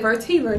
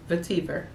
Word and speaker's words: vetiver: Is it vertiver? Let me look it up. Let me just see how to pronounce that, girl, because I get it wrong, okay? Vetiver.